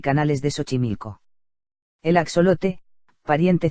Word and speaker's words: Xochimilco: el complejo lacustre de xochimilco pronunciado xochimilco cercano a la ciudad